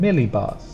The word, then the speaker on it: millibar: quite easy to spell pronunciation would go stronger sound on the first two really together Millie millibar millibar phase angle phase angle